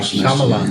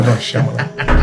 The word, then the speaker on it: Shyamalan: No, you don't pronounce the Y. Shyamalan. No, Shyamalan.